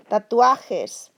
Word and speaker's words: tatuajes: Your tip of your tongue should push against the back of your upper teeth. Tatuajes, tatuajes. Not t, but tatuajes.